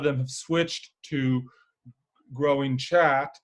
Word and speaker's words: khat: So that term there that's spelled Khat is pronounced chat.